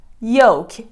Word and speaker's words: yolk: learn it number one yoke the letter L is completely silent it is the yellow